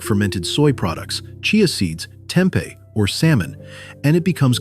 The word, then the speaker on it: tempeh: Tempeh, pronounced tempeh, is a traditional Indonesian food made by fermenting whole soybeans and pressing them into a compact block.